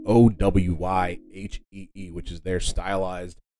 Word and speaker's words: Owyhee: There are certain places in the Pacific Northwest that have, there's a Owyhee County, and then there's the Owyhee Mountains that are also in Idaho. And once again, this is pronounced Owyhee, which is their stylized spelling of the word